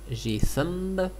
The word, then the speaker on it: GThumb: Dans la partie graphisme, on a GIMP et on a le visionneur d'image GThumb, on prononce à l'anglaise.